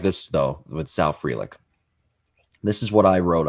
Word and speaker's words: Frelick: we've been saying sal frelick's name wrong for like the longest time we've been calling him frelick his name is frelick and he was one